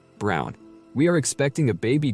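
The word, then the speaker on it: Braun: I told her why Eva Brun pronounced Brown was the wife of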